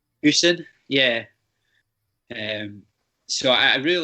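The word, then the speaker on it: Gosen: was quite big into, I think it's Goosen it's pronounced. So then that was probably my first proper racket after the Slazenger. What was it called? The Goosen, did you say? Goosen, yeah.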